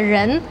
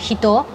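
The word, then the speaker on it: 人: es el de persona, que en chino se dice ren, en japonés también tiene como sus pequeñas complicaciones. O sea, no es que sea demasiado difícil igual pero como que al principio también me chocaba que se pronunciara distinto, ¿no? Como por ejemplo, persona en sí, cuando uno dice esa persona, se dice hito.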